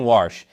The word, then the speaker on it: Warsh: Falando em questões de dinheiro, Kevin Warsh, que soa como se o Pateta fosse pronunciar "wash", foi confirmado pelo Senado como o próximo presidente do Federal Reserve.